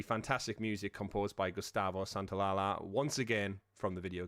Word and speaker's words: Santaolalla: I had to listen to his show early today to say how to pronounce the last part. But yeah, Santaolalla is there, and terrific job he does indeed.